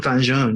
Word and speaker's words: vin jaune: Vin how do you pronounce it? Yeah, Vin jaune.